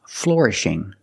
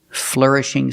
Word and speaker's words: flourishing: say a flourishing City the word is not pronounced flourishing I cannot use the or sound like floor and more I have to use the sound ER Fleur flourishing City I use the sound ER like Burger it's a closed sound